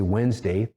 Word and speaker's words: Wednesday: So for example, the word Wednesday. Where's the D in Wednesday? When we say Wednesday, there's no D.